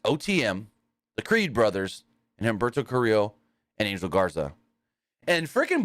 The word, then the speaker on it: Humberto Carrillo: You can still say the H. Technically it's Humberto Carrillo. Humberto Carrillo is technically how you say it.